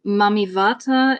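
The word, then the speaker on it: Mami Wata: right about the pronunciation it's mamat with a V sound although it's written with a W but um mamy Vata is U an African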